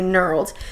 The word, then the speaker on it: knurled: to say it is the K silent knurled or knurled I think it's probably knurled metal stacked drum pendant